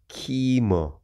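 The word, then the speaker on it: Kaymer: Germany's Keimer, pronounced Keimer.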